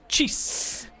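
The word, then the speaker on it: Chis: well with her calling i gotta spell that c-h-i-s cheese right okay you don't like the name it's with chris without the r why didn't you just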